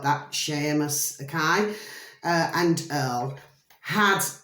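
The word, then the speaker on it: Séamus: spout the Irish way but that's how you pronounce it it's not Seamus it's Sheamus so it's spelled c s e air and then Moss m-u-s so they spell it like that Sheamus okay uh and Earl had the shared goal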